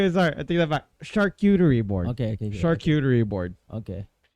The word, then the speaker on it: charcuterie: her because it's a it's a very hard word to pronounce it's uh it it derives from it it derives from the French word uh from the